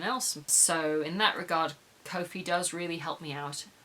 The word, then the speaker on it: Ko-fi: I'm going with Ko-fi as the pronunciation for this week.